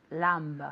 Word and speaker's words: lamb: Lamb. Lamb. Do you like lamb? Yes, I like lamb. And you? No, la B no se pronuncia. Lamb. No lamb, pero lamb. La B Okay. es completamente silenciosa.